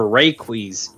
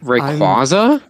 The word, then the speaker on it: Rayquaza: a hold of a rayquiz rayquiz whatever i pronounce it what rayquaza yeah like right you aza if theodore is going